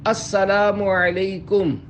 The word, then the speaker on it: السلام علیکم: لے۔ 11، سلام اور جواب سلام کا درست تلفظ یاد فرما لیجئے۔ پہلے میں کہتا ہوں، آپ سن کر دہرائیے۔ السلام علیکم۔ اب پہلے میں جواب سناتا ہوں، پھر آپ